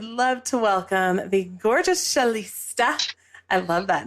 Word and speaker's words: Shalista: Should it be Shalista? It is Shalista. Oh, okay. Well, That's okay. You're in the 90th percentile of people that say it wrong, so it's okay.